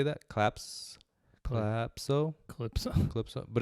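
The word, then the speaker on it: Kalypso: Calypso. But it's spelled K-A-L.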